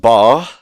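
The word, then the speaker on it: 八: It's pronounced bar, meaning well off or getting rich in a short time.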